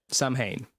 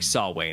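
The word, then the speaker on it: Samhain: Halloween, Sam Hayne, you know, s sorry, saw way, how it's pronounced, a Celtic tradition.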